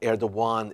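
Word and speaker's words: Erdoğan: dawuan his name is air the one by the way it's spelled air that gonebut air Dhawan is how we pronounce it in Turkish he's the president of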